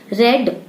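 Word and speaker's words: read: रेड, रीड का third form होता है रेड, स्पेलिंग सेम होती है।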